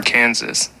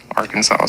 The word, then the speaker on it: Arkansas: and Little Rock or Kansas Arkansas sorry guys you know you can actually get a ticket for that if you say it wrong uh her childhood interest